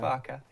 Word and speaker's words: Farke: farker is that right was it not far is it not just far was definitely Farka I never get my